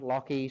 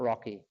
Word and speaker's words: Lachie: My name's Lachlan, Lachie, same person. Say it like lock and a key, not Lachie. It's not Rocky, it's Lachie.